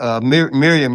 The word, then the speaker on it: Miriam: Magay and Miriam Yang. Okay. Yeah, Dave got her name wrong. It's Miriam.